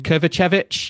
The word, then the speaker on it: Kovacevic: How do you say his name? Kovacevic. Yep. Alexander. That one, Kovacevic. beautifully said.